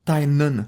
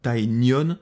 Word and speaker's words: Tynion: J'ai aussi pu lire Dracula, scénarisé par James Tynion de Force, et on dit bien Tynion, pas Tynion, ça se prononce à l'irlandaise.